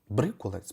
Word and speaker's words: брикулець: будемо слухати брикулець кришталі брикулець правильно щоб вимовляти Ну що зустрінемось на